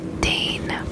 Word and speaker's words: deign: Deign. This is a verb. I'll spell this one too, just because I feel like this one sounds weird. D-E-I-G-N, but it's deign. It almost sounds like the name.